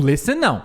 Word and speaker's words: listen: Often, listen, não pronuncia o T aqui, nem aqui, tá? Mas no often, você pode pronunciar often. Often pode pronunciar o T. No listen, não existe listen, tá?